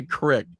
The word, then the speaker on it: creek: it correct it's a crick it's a crick I'm sorry between a creek and a crack yeah yeah it's a